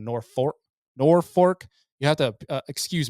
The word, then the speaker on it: Norfork: 5th you're in Mountain Home Arkansas saw at Norfolk Lake believe I pronounced that wrong nor fork Norfork you have to excuse me here because